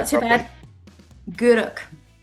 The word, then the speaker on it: Gourock: Gourock. Gourock.